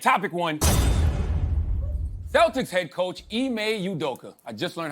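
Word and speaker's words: Ime Udoka: talk about tonight topic one Celtics head coach IMEI udoka I just learned how to pronounce his name uh he received a one-year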